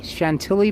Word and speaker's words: Chantilly: at chanta Chantilly Virginia or I'm sorry Chantilly Chantilly Virginia September 1st 1862.